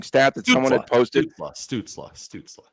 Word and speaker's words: Stützle: Stützle. I'll help you out there. Stützle. That's how you pronounce it, Stützle.